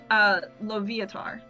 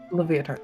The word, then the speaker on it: Loviatar: And before I say it, just to make sure that I'm saying it right, Lavitar? That's how you say it right? You said Laviatar? Yes. Loviatar. Leviatar.